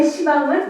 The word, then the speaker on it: 시방: 그래서 10방인데 이거를 스님들이 시방이라고 읽냐면요, 이게 목탁 두드리고 기도하다 보면은 10방이 이렇게 안 돼. 발음이 편안하게 굴러가야 되니까 이게 이제 발음이 시방이 돼버린 거예요. 그래서 요건 원래 시방은 요걸 이야기를 하는데 여기는 오방이 내외잖아요.